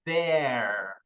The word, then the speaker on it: they're: E o they are, a pronúncia fica bem interessante, fica there. There. Esse TH aqui é aquela pronúncia meio de língua presa, né?